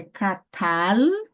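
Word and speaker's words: קָטַל: É catal, ó, o som da consoante lama é de L, jamais som de U, tá bom? Não é catal, catal não, filho, não vem para cá portuguesar de jeito, não.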